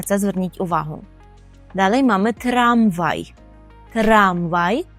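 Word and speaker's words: tramwaj: зверніть увагу далі мами трамвай трамвай Як ви почули відмінність між українським і польським словом у наголосі ми наголошуємо трам трамвай тролейбус так і буде тролейбус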